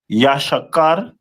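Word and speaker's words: יששכר: The next one is the tribe of Issachar which is the Mexicans of today and their name is pronounced in the Hebrew as Yashakar which means he is hired.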